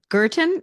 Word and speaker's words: Guertin: Today, I have the absolute pleasure of having with us Trista Guertin. Is that how you pronounce it?